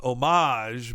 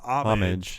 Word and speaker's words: homage: I thought it was, I've heard it pronounced homage, but she says homage. But either way's fine.